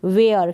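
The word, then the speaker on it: where: यहाँ पर भी ई जो है इसका उच्चारण नहीं हो रहा, लास्ट में है, और WH के बाद ई है, इसलिए हमने एच का उच्चारण प्रोनाउंसिएशन नहीं किया, इसको प्रोनाउंस नहीं किया।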